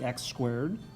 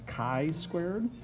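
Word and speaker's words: chi-squared: has a funny name it looks like x squared but that's not how you're gonna pronounce it it's actually pronounced as chi squared if you look it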